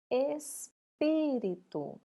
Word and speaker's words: espírito: E por último, espírito. Só de pronunciar espírito, qual que nós falamos mais alto? O pi, não é?